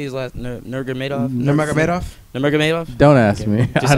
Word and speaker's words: Nurmagomedov: Nurmagomedov. Nurmagomedov. Don't ask me. Just I don't add know. another syllable in there.